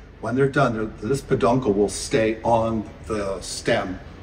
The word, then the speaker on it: peduncle: a straight face um your uncle rhymes with peduncle so so that's right